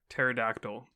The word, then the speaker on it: Pterodactyl: Pterodactyl, because you can't hear them when they pee? Urinate. Yeah. All right. Because the P is silent, Xiaber.